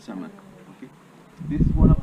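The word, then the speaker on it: Zama: The original name was Sama. Sama, it's spelled Z-A-M-A, Z-A-M-A, and that means dawn, sunrise.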